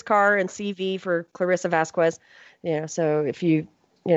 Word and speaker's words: Vazquez: yeah yeah it's it's it's the puerto rican pronunciation and spelling it's Vasquez and it's VA zqu